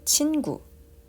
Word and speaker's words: 친구: 친구. Let's say 친구, which means friend in Korea. So 친구 also has two syllables, right?